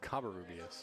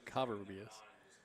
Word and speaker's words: Covarrubias: It's Covarrubias. Covarrubias. I had a Covarrubias. You had a Covarrubias. It's actually the first syllable, Covarrubias.